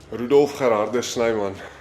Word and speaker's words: Rudolf Gerardus Snyman: Yeah, give me the full Afrikaans pronunciation. Rudolf Gerardus Snyman.